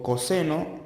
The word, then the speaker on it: coseno: Y luego tengo coseno de alfa, se escribe cos, pero se lee coseno, es igual a cateto adyacente sobre hipotenusa.